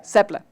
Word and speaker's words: Seble: Did I pronounce it okay? Sebil. Yeah, you're fine. You can call me Seble. Yeah. Seble.